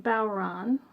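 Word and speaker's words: bodhrán: It's spelled like this, but it's pronounced Balron.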